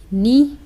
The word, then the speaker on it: knee: Second है आपका KNEE, नी, इसको नी बोलेंगे, के को नहीं बोलेंगे।